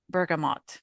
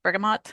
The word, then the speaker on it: bergamot: notes, orange blossom, and bergamot. I don't know if mm. that's how you pronounce it. Yeah, yeah. Bergamo? Bergamot? Bergamot. Yeah, I think.